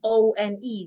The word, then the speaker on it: one: W O N and O N E. They are pronounced the same way.